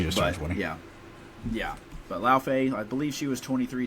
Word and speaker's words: Laufey: Laufey. I believe I'm saying that right. I'm taking that pronunciation, of course, from is it Norse mythology, I believe?